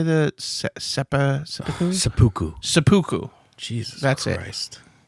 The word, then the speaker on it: seppuku: How do you say the seppuku?